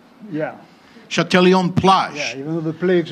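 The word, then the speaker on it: Châtelaillon-Plage: can pronounce this correctly, Châtelion-Plage. Right. Not plague. Yeah. Châtelion-Plage.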